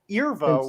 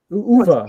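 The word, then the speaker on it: Euwe: Alyakin, and then Irva, which is spelled E-U-W-E. No, Eva. Uva, right?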